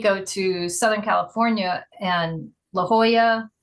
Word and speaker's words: La Jolla: And then you go to Southern California and La Jolla, all the ones with a double L are pronounced with a Spanish. So if someone says La Jolla, like you get to laugh at them.